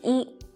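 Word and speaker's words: 一: looks like this eat what we need to pay attention about this character e is its pronunciations to be more exact it's tones when e is used as a numeral in sequence such as when you're counting it is the first first flat tone one two three four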